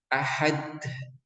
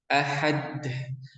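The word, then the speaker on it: أَحَدٌ: Contoh salahnya ya, yang kebanyakan orang itu baca seperti ini. Ahad, ahad, ahad, ahad. Nah, itu tidak boleh ya. Karena seharusnya cara pengucapan qalqalahnya itu harus dilepas dan tidak ada nafasnya. Ahad, murni. Ad, ad, ad, ad, ad. Tidak boleh ed, ed. Harusnya adalah ahad, ahad.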